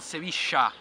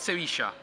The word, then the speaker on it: Sevilla: Y estamos en Sevilla. Soy de Argentina, lo pronunciamos Sevilla. Yo soy de España, decimos Sevilla.